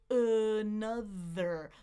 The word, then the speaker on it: another: Look, I've got two schwas. I've got that umbrella in the middle, right? The here's something new. The second syllable is stressed. So, think about the length of that uh sound. U another another. I want to stress that second syllable. other. Another another other second syllable stressed here.